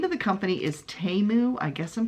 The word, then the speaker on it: Temu: The name of the company is Temu. I guess I'm pronouncing it right, or Temu.